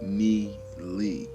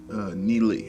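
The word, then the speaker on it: Nie Li: Pronounce his name like Ni Lee.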